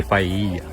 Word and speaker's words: paella: Spanish একটা tradition খাবার, নাম পাইয়া উচ্চারণ করতে ডাবল এল, কিন্তু স্প্যানিশ ভাষায় ডাবল এল থাকলে তার উচ্চারণ হয় জি, সেক্ষেত্রে পাইয়া।